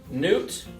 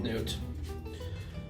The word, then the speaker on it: Noot: liquidate under the name which was nudes and it's spelled n-o-o-t i want to be clear here we are completely separate companies newt grow with newt incorporated and liquidate llc two